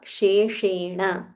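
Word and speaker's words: शेषेण: above your upper teeth श फॉललोड बाय मूर्धन या श where you have to role your tongue so both you will have to be mindful of हाउ you pronounce न शेण न शेण श्रुत्वा धर्मा न शेषण पावनानी पावना ानी च पावना च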